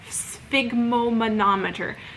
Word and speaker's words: sphygmomanometer: Blood pressure is measured with a sphygmomanometer. You've got to try saying that. If you don't know how to say it, sphygmomanometer.